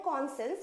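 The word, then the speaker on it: conscience: भी काट देते हैं तो कॉनसेंस हम बोल तो रहे हैं कॉनसेंस बट उसमें रहता है साइंस वर्ड जुड़ा हुआ कौन तो रहेगा और पीछे साइंस रहेगा तो साइंस का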